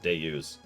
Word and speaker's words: Deus: What's funny is I think Deus is pronounced just like that. Deus.